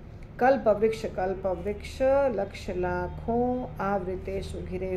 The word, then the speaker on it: कल्पवृक्ष: चिंतामणि प्रकर सद्मसु कल्पवृक्ष कल्पवृक्ष नहीं कल्पवृक्ष।